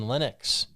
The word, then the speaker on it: Linux: his name is linus he said that it's pronounced linux so linux think of linux is a poor